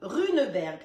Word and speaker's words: Runeberg: Les ingrédients pour faire les gâteaux de Runeberg. Ça s'écrit comme ça se prononce.